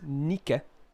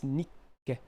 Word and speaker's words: Nikke: I say Nikke. It's Nikke. Nikke. There you go. Not Nikke. It's Nikke. It's like... You're like swallowing air. It's like a pause.